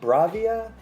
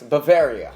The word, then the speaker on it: Bavaria: And I remember going and how generic, I guess, like Bravia. What he mentioned earlier, Bavaria. Let me make sure I pronounce this right. Yes, Bavaria.